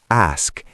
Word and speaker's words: ask: The correct pronunciation is ask. A s k. Can I ask you something? Ask with the s, not axe.